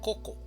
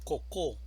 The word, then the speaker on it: coco: La palabra coco tiene dos sílabas, una sílaba tónica y una sílaba átona. La mayor fuerza de voz la encontramos en la primera sílaba, coco.